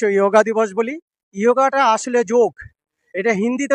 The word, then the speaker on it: যোগ: ইয়োগাটা আসলে যোগ। এটা হিন্দিতে উচ্চারণ হয় ইয়োগা।